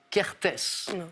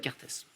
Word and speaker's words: Kertész: tu en contrepoint il faut essayer non imre kertész ça s'écrit chaque 1er t es z kertész animaux quel est ce crustacé à forte antennes